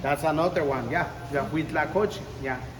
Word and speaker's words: huitlacoche: The huitlacoche. Yeah. It's a difficult word to pronounce, and you do it well.